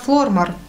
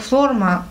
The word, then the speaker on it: Flormar: Помада от бренда Flormar. Ну, вообще, я вот сейчас включила и думала, на какой слог ставить ударение. Девушка-турчанка произносила как Flormar. Flormar. Ну, то есть, как бы ударение на первый слог, вроде как.